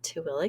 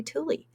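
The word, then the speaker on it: Tooele: Here in Utah, we have a Tilla County and it looks like it should be Tuli.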